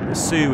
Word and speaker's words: Su-30: thank you and yes officially it is pronounced su-30 rather than su-30 Sue is an abbreviation of the word Sukhoi not an acronym specifically this is